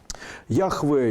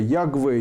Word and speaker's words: Яхве: Яхве, Ягве, Ягае, встречаются варианты Иегова, современный вариант произношения иврита.